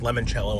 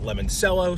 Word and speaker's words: limoncello: Although limoncello is pronounced limoncello and not lemoncello, so you could argue whatever.